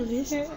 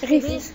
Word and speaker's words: Geest: C'est Guest ou Ries ? Ries. Okay, Ries.